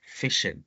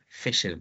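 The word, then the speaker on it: phishing: the chat fishing fishing it sounds like fishing and it's it's it's it's it was actually coined because of fishing but this one is spelled pH fishing fishing so fishing is another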